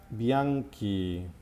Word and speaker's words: bianchi: So bianchi and bianche are spelled with the addition of the H to maintain the hard sound of the C.